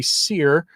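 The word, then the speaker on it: Sire: and it's by Henry sear yes that's how I heard him pronounce his own name in his own in a speech he gave that was put up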